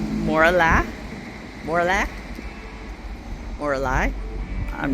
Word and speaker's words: Morlaix: Mora Moralai. I'm not sure. It ends with an X, but you don't pronounce the X.